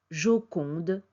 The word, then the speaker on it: Joconde: était appelée la jokonda son nom est prononcé Joconde en français on ne sait pas